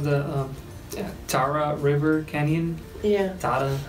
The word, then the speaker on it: Tara: Tara, how do you say it? Tara.